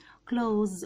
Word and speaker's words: clothes: زي ما انتم شايفين كده ال تي اتش مش بتتنطق والاس بتتنطق زد.